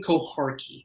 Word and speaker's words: Kohari: yeah it's kohari k o h a r k i yes it's just like it's sounds just like it's spelled but I don't know